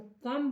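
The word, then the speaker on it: comb: तो हम देखते हैं कि जब हम अक्षर इसमें मिला रहे हैं तो सी ओ एम बी तो कम नहीं बोलेंगे बी साइलेंट हो गया कम हो गया सी ओ एम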